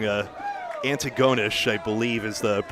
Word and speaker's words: Antigonish: pette tell us we got the wrong uh Antigonish I believe is the correct pronunciation of what we were trying to say